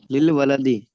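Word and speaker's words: لِلْوَلَدِ: लिल ये, वलदी, जी, लिल वलदी। माशाल्लाह, ये बन जाएगा लिल वलदी। अब इसका ये जो हमजतुल वस्ल है ना, ये यहाँ पर साइलेंट हुआ, और ये देखिए बिस्मिल्लाह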